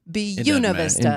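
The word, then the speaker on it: Buena Vista: It's Buun Vista. It's Bunav Vista. Josh, I'm sorry. It's really what it is. Bun Vista. It's not Speak the language. It's bu. It's the way they pronounce it.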